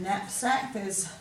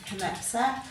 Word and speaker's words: knapsack: They would have once pronounced that K, so it would have been canole, canave, canack, caneed and canapsack. It's a bit hard to say, so we've dropped the sound, but we still have